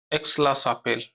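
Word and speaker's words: Aix-la-Chapelle: हुई थी ठीक है इसको अंग्रेजी में देखेंगे तो इसका उच्चारण बदल जाएगा एक्स ला चपल यह संधि हुई इस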